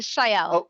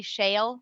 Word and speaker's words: Shael: it shaw is it it's the shael a lot of people call me shale which is that's why